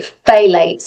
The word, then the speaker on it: phthalates: of um I can never say it properly phthalates it's ph L a t e s.